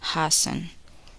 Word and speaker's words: hasten: The letter T is silent in the following words. Listen and repeat each word after the speaker. Often, listen, fasten, hasten, mortgage, mustn't.